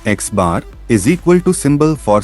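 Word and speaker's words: x̄: Mean equals to, where x is equal to the symbol we use for mean, pronounced as x bar, is equal to symbol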